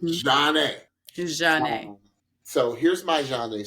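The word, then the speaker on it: Zhané: Pronounced Zhane.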